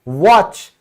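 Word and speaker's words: watch: क्या कहता है भाई, टी के बाद अगर तो सी एच, ई एन और एल ई आ जाए तो आप मुझे साइलेंट कर दीजिए। जैसे घड़ी क्या कहती है, वॉच, तो यहां पर जो टी है वो क्यों साइलेंट हो गया, सी एच की वजह से, ठीक है।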